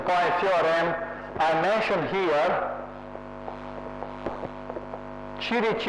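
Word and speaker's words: Ćirić: FM I mention here chich is this m this mathematician they pronounced chich I went in belgrad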